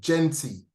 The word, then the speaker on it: Genti: Who's doing it's called Genti.